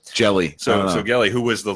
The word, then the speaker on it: Gelli: I said Gielli. Gielli, even though there's no I. Gelli. Whatever. Jelly.